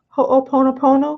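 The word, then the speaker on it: ho'oponopono: Ho’o pono pono. Athena: You said it perfect and thing with the Hawaiian language you guys is you pronounce every vowel. So it's Hoo pono pono and little things that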